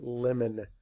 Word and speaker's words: lemon: It's a lemon. Lemon. Lemon. Lemon. Makes that O makes more of a schwa sound.